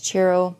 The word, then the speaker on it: Ciro: I was like, again, I actually even looked up how to pronounce Chiro's name, and everyone says it's Ciro Marchetti, the CH.